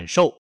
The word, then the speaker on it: 师傅: Primero, el "fu" en "shifu" (师傅) se pronuncia en un tono ligero, casi inaudible.